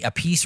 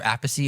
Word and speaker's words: Appice: It was a few years ago, and it was you, Nancy Wilson, Vinny Appice or Appice, however you want to pronounce it, and Steven Adler was there as well.